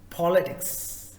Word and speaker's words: politics: The first word, the first syllable, the first part, that is po. So it's politics.